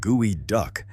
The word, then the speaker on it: geoduck: The geoduck, pronounce it gooey duck, spends its entire life